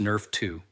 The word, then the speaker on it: NRF2: Your body has its own master anti-inflammatory switch controlled by a protein called NRF2, pronounced Nerf2.